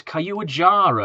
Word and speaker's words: Caillou: Um, oh, actually Caillou, it's Caillou apparently how it's pronounced.